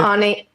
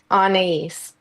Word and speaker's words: Anais: Also, it's Anais is how you say How do you say it? Anais. Anais. It's French.